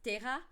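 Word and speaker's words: Ptéra: Aerodactyl is Terra, but it's P-T-E, E accent aigu, R-A. So it would look like pterodactyl with the PT at the beginning.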